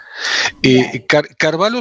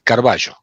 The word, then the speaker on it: Carballo: Carvalho sonaría italiano y mi familia es española, es Carballo.